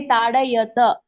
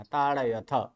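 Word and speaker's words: ताडयथ: ताड़यतः, मध्यम पुरुष बहुवचने ताड़यत। त नहीं, थ थ। हाँ, थ ताड़यत। का उच्चारण करना है। ताड़यथ।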